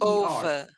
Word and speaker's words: over: the one thing is when you pronounce over just remember it is an o o the over over o over o o over this video is